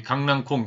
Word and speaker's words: 강낭콩: 어원을 인식하지 않고 받침의 소리가 변화한 대로 발음하면서 이러한 언어 현실을 그대로 반영하여 강낭콩, 이것을 이제 표준어로 수용했다.